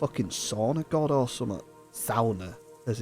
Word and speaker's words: sauna: a sauna God or something SAA as it's actually pronounced not sauna I like peasants I can't remember what they're